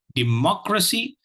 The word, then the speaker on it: democracy: So we have here democracy. That is the word for today. Democracy. The second syllable carries the accent, carries the is stressed.